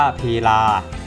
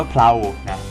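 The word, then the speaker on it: เพลา: ต่าง กัน นะ ครับ คำ แรก อ่าน ว่า พี ลา แปล ว่า เวลา นะ ครับ ส่วน คำ ที่ 2 อ่าน ว่า เพรา ซึ่ง แปล ว่า เทา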